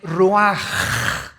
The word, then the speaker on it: ruach: versículo 29 y exhaló Isaac Qué cosa el ruaj que se escribe r u a c h ruach en el hebreo y se pronuncia igual ruaj Aquí vemos que al morir dos personas diferentes